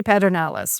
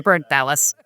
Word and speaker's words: Pedernales: you say it and we say we say petalis right we're not we're not going to correct you if you say petalis you know it's that